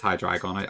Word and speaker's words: Hydreigon: Yeah, I think it is Hydreigon. I just say it wrong all the time, but it would make sense because it's based off the German numbers.